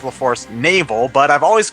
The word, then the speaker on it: Forest Navel: In this part, we're going to go to the Forest Nav-L. Yes, I know it's supposed to be pronounced the Forest Navel, but I've always called it the Forest Nav-L, so that's what I'm going to continue.